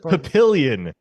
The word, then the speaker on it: Papillion: papillonium Nebraska or Papa what how do you pronounce it Papillion Papillion pillion kind of butchered it on the